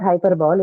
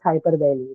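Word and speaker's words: hyperbole: speech this is called hyper belly right not hyperball it's hyper belly the right pronunciation is that uh what is hyper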